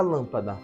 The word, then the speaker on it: lâmpada: proparoxítona vou escrever aqui E por que a palavra lâmpada vai ser proparoxítona porque a antepenúltima sílaba da palavra lâmpada é a sílaba mais forte agora Guarda uma última